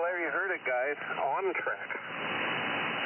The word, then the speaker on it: OnTrac: OnTrack. How do you spell that?